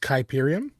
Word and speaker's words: Kuiperium: partner Steve Castle um it's pronounced kyberium and um you know